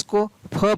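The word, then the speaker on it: cough: कुछ शब्दों में GS को फ पढ़ा जाता है। तो कब पढ़ा जाता है, देखिए COUGS, तो इसको क्या पढ़ेंगे, कफ।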